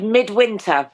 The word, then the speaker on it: Mydwynter: I dare not pronounce the title. It's called Mydwynter.